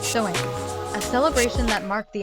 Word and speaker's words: Samhain: Halloween has its roots in the Celtic festival of Samhain, pronounced Samhain, a celebration that marked the end of the harvest season and the beginning of winter in regions of Ireland, Scotland, and Britain.